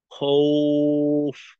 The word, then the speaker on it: خوف: সুতরাং এখানে উচ্চারণটা খৌফ, খৌফ না, উফ, খৌফ, খৌফ। নাকে যাবে না, উ এর মতো হবে।